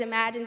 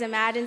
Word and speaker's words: Imagine: My name is Imagine Spencer. I'm an 8th grader at Beveridge Middle School, and the title of my short essay is Unimaginable. My name is Imagine Spencer. Imagine, pronounced imagine.